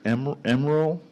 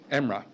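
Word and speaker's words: Emre: Did I get this right? Is it Emerald? Emra. How do you spell that? E-M-R-E. E-M-R-E, okay.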